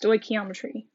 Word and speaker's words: stoichiometry: double my reactants all of this is called stoichiometry stoichiometry is basically using the mole ratios the multiple relationships and chemical reactions to go between substances again it's pronounced stoichiometry so we're going to basically use stoichiometry to